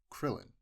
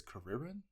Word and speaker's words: Krillin: Oh yeah, like well, I guess that's not one because you got a Krillin, which in the it's weird because I'm not sure because in the manga it's Kuririn, but I'm not sure.